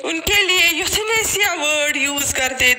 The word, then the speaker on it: euthanasia: And then यूथनेसिया जिसकी spelling है EUTHANASIA, इसको पढ़ते हैं यूथनेसिया.